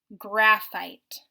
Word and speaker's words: graphite: what about the word graphite graphite let's break it up into syllables graph fight those are two syllables so first let's spell